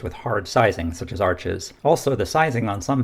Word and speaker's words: Arches: One of the most widely recommended watercolor papers is made by Arches, which may be pronounced arch, but I like the sound of Arches better.